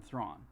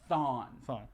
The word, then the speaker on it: Thawne: So I was saying it wrong. Yeah. Thawne.